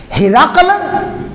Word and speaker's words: ہرقل: ہرقل یعنی ہے را قاف پہ سکون، ہرقل.